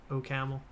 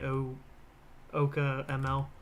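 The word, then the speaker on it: OCaml: like laughing like oh he pronounced it oh camel it's actually oh okay ml all right so what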